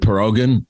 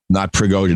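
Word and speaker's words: Prigozhin: what happened here is is it perogan I call them perogan like pierogi whatever his name the Insurrection leader how do you pronounce his name pregosian not pierogi okay I don't mean to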